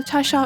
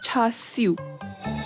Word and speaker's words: Char Siu: But I'm not gonna keep that in, so I'll just call Cha Shao as Char Siu, which is the Cantonese pronunciation, which I am gonna keep because I'm used to it.